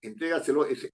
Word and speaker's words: entrégaselo: la si yo digo entrégaselo No es cierto entrégaselo entrega se lo penal la palabra compuesta no entrégaselo la fuerza de voz está en tres porque yo le digo